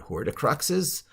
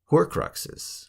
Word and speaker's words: horcrux: of slicing and dicing his soul into separate horticruxes in the story harry potter teach you anything horticrux's horcruxes i pronounced it wrong it's horcrux so you know